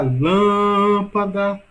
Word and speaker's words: lâmpada: Olha a lâmpada, sílaba mais longa, lã. Logo, a sílaba mais forte, a sílaba tônica de lâmpada é lã.